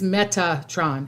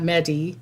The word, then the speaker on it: Metatron: okay um the the the angel is Metatron m e t a t r o n not Medi but meta Tron and if I said